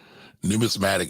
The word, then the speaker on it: numismatic: i always say it wrong so thank you numismatic is what the people who study or the